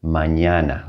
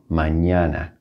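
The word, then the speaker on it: mañana: with a squiggly and it's going to be pronounced like the first n in onion like that sound a good example of this is the spanish word manana like manana all right we're not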